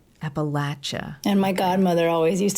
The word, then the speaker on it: Appalachia: we we pronounce it Appalachia Appalachia and my godmother always used to say say the way to remember is to just think of throwing an Apple at you okay I'll never forget